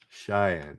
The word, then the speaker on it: Cheyenne: what's the capital of wyoming uh pronounce it cheyenne cheyenne i don't know sheam warriors at little bighorn and defeated american general custard cheyenne oh there you go cheyenne thank you samayo